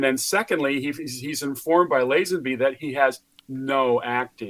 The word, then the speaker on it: Lazenby: Lazenby.